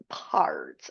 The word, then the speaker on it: Pardes: Now, you can see here, but remember I said the A and the E in there are just for pronunciation, so you can say, roll off your tongue, Pardes, okay?